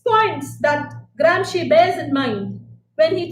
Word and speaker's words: Gramsci: It is Gransci, but it's pronounced as she, Gramsci.